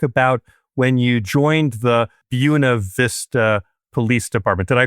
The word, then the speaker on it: Buena: had to actually write a little note to myself here on the side to remind myself it's like Buick. Buena Vista.